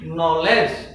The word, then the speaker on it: knowledge: l e d e here K is before n k will be silent and the pronunciation will be knowledge not knowledge yeah k